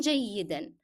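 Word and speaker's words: جيدًا: And the word جيدا here has to be pronounced with the sound of N. It's part of the word. It cannot be dropped as you stop.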